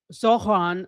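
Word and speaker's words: Zohran: Mayor Zoran Mamdani, Zoran, I think is the way you pronounce it, Mamdani.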